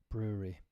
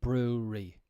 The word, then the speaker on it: brewery: Discussing beer making bars while sober is hard enough thanks to that tricky middle syllable. Brewery. Yeah, often people would just say brewery. But it's brewery.